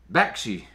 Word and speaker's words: Bakshi: Ralph Bakshi, how do you pronounce his name? Bakshi.